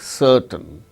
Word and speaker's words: certain: is not pronounced, like certain, CERTAIN. R is followed by T, a consonant sound T. So, in such case R is not pronounced, certain.